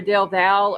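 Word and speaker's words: Del Valle: I had to ask my son because it's either Del Val or Dell Valley. My son says Del Val.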